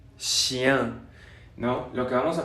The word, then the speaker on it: chien: Una como F muy larga, después una J, una como E mayúscula pero chiquita con un gorrito. Esa es la pronunciación de chien, chien, ¿no?